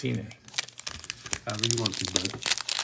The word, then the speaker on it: Cine: It's Cine.